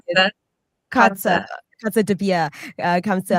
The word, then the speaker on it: Kotze: Kotze.